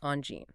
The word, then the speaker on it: Angine: So, based on our guides, it's Angine. All right, so you say on with a soft nasal sound.